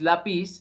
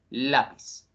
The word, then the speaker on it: lápiz: O sea la tilde la lápiz no es lapiz sino lápiz listo Entonces ya vemos Prácticamente